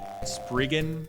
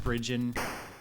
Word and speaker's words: Spriggan: game speaking of compile spriggan which i understand it should actually be pronounced sprigen i think but whoa that game